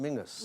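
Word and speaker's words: Menzies: and you have men's up in Scotland which pronounced Mingus Mingus yeah and we've got Menses the news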